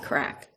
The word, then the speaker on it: craic: That's where they go and have their crack. They call it crack, but that's Gaelic for fun, you know, it's CRAIC, crack.